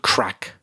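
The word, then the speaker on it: craic: problems for sure but the crack i'm talking about is spelled c-r-a-i-c it's an irish word but a lot of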